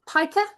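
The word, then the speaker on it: pika: So, we had several American peakers, or piker, as the Americans pronounce it.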